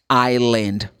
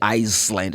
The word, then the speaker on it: island: go to tapara island island I said Island it's not you don't pronounce the letter s you don't say Iceland it's Island and I need to